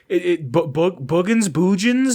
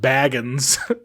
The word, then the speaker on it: Baggins: And they're like, so how do you say your name? Boogans? I'm like, no, it's pronounced Baggins.